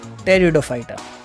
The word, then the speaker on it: टेरिडोफाइटा: Moving on टू the next group, टेरिडोफाइटा. अब इसमें P silent है.